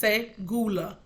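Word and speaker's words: סגולה: Segula, and it's pronounced segula.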